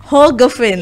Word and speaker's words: Hoogeveen: Oke, ada Mbak Hoogeveen, betul ya namanya? Oke, kadang-kadang spellnya suka keliru ya. Karena double O biasanya bacanya U kan? Hoogeveen.